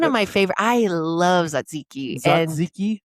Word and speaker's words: Tzatziki: Tzatziki. Tzatziki. What? Tzatziki. So you don't say the T? No.